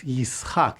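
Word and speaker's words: יִשְׂחָק: The letter tsadi with ts sound is replaced by shin, which here is pronounced like an s. So, it's Yishak instead of Yitzhak.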